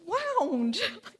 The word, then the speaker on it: wound: um I was like it's wound you it rhymes with bound and round and um but it